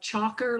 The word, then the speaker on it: Chalker: really interesting website and it's just spelled like Chalker like somebody writing on a chalkboard - not Linda Chalker